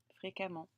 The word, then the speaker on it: fréquemment: les cas mans mais on va le prononcé à et l'écrire e fréquemment et bien sûr ce